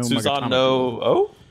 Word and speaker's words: Susanoo: the kind of no Susano O? Susano O. I still don't know how to say that name, but Susanoo. Yes, that one. Well, I mean, I think that both O's are pronounced.